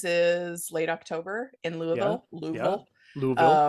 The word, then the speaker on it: Louisville: Louisville. Um, I'm told the closer you get to it, the fewer syllables there.